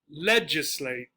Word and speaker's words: legislate: Legislate, legislate. First syllable.